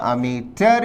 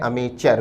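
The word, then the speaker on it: amateur: नहीं हमारा आंसर होगा अमिटर शब्द का एक और उच्चारण है अमिचर भी तो अमिटर कहे या अमिचर अर्थ है वो व्यक्ति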